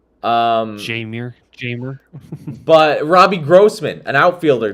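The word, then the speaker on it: Jeimer: to tell me that Heimer Candelario is gonna win your team 90 games? You can't tell me that. No, Jamer Candelario. Sorry, I mispronounce his name every single time. Jamer.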